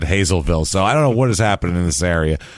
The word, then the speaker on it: Hazlettville: That's Hazlettville, but it's Hazelville here. What? There's 2 T's that are completely ignored.